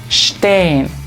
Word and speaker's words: stehen: Entonces uno diría aquí share, y cuando la S le sigue una T o una P se utiliza ese mismo sonido sh. Entonces pronunciamos esto stehen, y esta se pronuncia sprechen, sprechen.